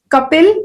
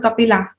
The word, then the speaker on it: Kapil: Kapil, it is Lord Kapil. It is not Lord Kapila. Okay, usually they just add a, and everybody starts talking. Everybody who is reading that in English, they start pronouncing it in a wrong way.